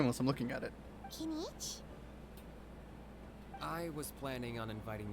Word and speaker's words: Kinich: Kanish! That's how you say it. I can't say his name unless I'm looking at it. Kinich?